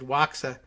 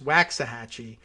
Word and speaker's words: Waxahachie: that's like that but wax like earwax waxahachie because texas and they